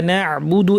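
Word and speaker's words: نعبد: এরপরের আয়াতে আমাদের ইয়াকা না'বুদু, এখানে আইনটা খেয়াল করতে হবে। শ্বাসনালীর পর্দাটাকে আমাদের এবার ভালো করে চেপে দিয়ে বাতাস বন্ধ করে দিয়ে আইন উচ্চারণ করতে হবে।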